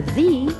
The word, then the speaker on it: the: before a consonant sound you hear thee before a vowel sound the idea the owner